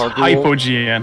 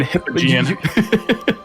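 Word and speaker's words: Hypogean: Oh, it's pronounced hypogian. Okay. Yeah, I think I was saying hippian.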